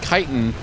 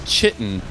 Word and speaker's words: chitin: I said you fucking mispronounced the word chitin as chitin. And that completely fucked up the entire song because the goddamn lyric rhymes chitin with fightin'.